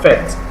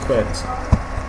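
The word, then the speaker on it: fête: Fete. Words like fete, you have fete. It means party. Party. It's pronounced as fete. Okay, the last E is not pronounced because naturally in the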